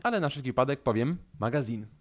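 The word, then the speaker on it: магазин: na wszelki wypadek powiem Magazine tak to właśnie robimy zwróćcie uwagę na Akcent który pada na koniec tego słowa na ostatnio samogłoskę A z kolei Marcin wysłał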